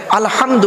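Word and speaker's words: الحمد: হায় হাওয়াজ নয় বাপেরা আলহামদু গলার ভেতর থেকে হয় এটা উচ্চারণ হবে আলহামদু মানে হচ্ছে সমস্ত প্রশংসা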